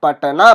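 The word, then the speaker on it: Patna: पूरा अक्षर लिखते हैं, पटना बोलते हैं उसे, लेकिन हम जब हम उच्चारण करते हैं, जब हम मुंह से बोलते हैं पटना, ट जो है आधा ही मुंह से निकलता है।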